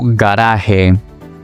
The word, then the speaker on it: garaje: For example, gato, gato, o garaje, garaje.